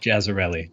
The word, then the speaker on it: Jazayrli: It's pronounced Jazayrli.